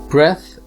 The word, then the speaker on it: breath: another commonly mispronounced one breath is the noun or is the object that you take in and is pronounced with a short vowel breath meanwhile breathe with an